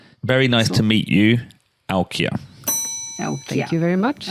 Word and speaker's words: Aukje: um okay excellent very nice to meet you alkia so thank you very much okay well pronounced am I pronouncing it correctly yep okay